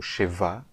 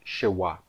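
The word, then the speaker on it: שְׁוָא: Agora, lembre-se que em hebraico eu chamava essa letra aqui, o shevá, de shevá, com um V aqui, não um W. Né? Por que eu escrevi um W aqui? Bom, porque em aramaico eu vou pronunciar o vav como uau. Então, na verdade, em aramaico, a letra, aquela letra reduzida que nós conhecemos, aqueles 2 pontinhos, né, embaixo de uma consoante, será chamada de shewá.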